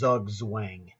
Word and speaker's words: Zugzwang: printed but never spoken, it's a German word, and it's in English the letters would spell out what you would pronounce as Zugzwang, okay, but the correct pronunciation is German.